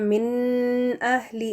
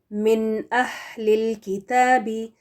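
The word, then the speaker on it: مِنَ الْكِتَابِ: आगे बढ़ जाना है तो यहां पर हम मिन अली इस तरह से नहीं पढ़ेंगे बल्कि नून को प्रोनाउंस करके फिर आगे अगला जो हमजा है उसको पढ़ेंगे मिनल किताबी और दूसरी जो इसमें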